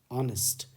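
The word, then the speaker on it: honest: हमने देखा है कि एच यहां पर साइलेंट है यानी इसकी आवाज नहीं आ रही है तो आवाज कहां से आ रही है ओ से ऑनेस्ट ओ पहला साउंड है और ये एक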